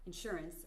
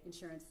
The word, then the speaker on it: insurance: I know many of you were talking about insurance. I say insurance with the accent on the second syllable. You say insurance.